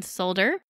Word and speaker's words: solder: they call Sip and solder or if you're like me and it drives you absolutely nuts that the L in the word is not pronounced sip in solder and what that means